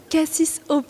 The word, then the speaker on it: K6OP: Alors déjà, ça s'écrit un peu particulièrement. C'est un langage de nerd, tu m'as dit. K-S-O-P. Cassis OP, oui.